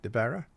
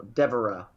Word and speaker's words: Devara: Did I say it right? Devara? No, Devara. Devara. Think of Deborah.